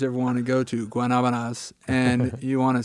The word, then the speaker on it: Guanabanas: want to go to Guanabanas and you want to say it, the correct pronunciation, just think of that classic song. There you go. And then just put it Guanabana. And then you've got it.